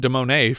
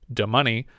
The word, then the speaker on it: de Monet: of beggars ask count demonet for money though they mispronounce his name damani and he repeatedly corrects them a red carpet is